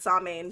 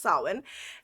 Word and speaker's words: Samhain: Yeah, there's actually quite a few that pronounce it Samhain, so some people just go with Samhain, but it's actually pronounced Samhain.